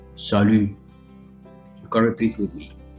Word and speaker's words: salut: french sally sally okay go around your lips like that and say salu you can repeat with